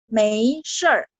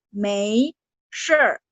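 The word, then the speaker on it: 没事儿: Mei sure, bacanya Mei sure. R-nya lidahnya naik waktu di belakang dibaca.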